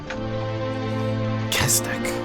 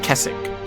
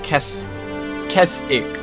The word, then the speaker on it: Kestik: Kestik. So it's Kes, K-E-S-T-I-K. Spelled Kesik. Sorry, Kesik. The T's kind of silent. Alright. Kesik.